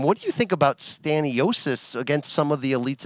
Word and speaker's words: Stanionis: It was Staniyonis. Is that how you say his name? Stanionis. I'm sorry that I was butchering it at times, even though he's my Lithuanian brethren.